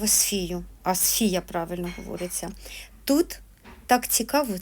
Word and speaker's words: Асфія: Асфія, правильно говориться.